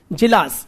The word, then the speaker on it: Djilas: N for Nagaland, MILOVAN, Jilas, DJ, हाँ D silent था थोड़ा, Milovan Jilas, MILOVAN, DJILAS, क्या हो गया ना?